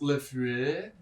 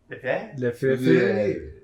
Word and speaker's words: Lefebvre: It's pronounced Lefebvre. Lefebvre.